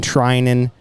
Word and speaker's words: Threinen: name is trinen I think is Trin H is silent right H is